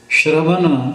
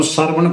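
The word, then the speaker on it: ਸ੍ਰਵਣ: मूल तु है शराव इसका उच्चारण है श्रवण श्रवण इसन सरवण करके नहीं पढ़ जा सकता ना ही श्रवन करके क्यों रा अधा है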